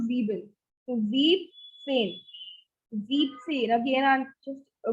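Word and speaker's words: siebzehn: will only take z here not zebel so zeep change deep scene again i'm just coloring this part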